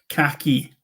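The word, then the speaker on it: cachu: Or as we say in Welsh, khaki. Khaki. Khaki. Like hockey.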